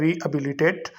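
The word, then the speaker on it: rehabilitate: हैं वो होता है रीहैबिलिटेट। रीहैबिलिटेट में एच साइलेंट लेटर है।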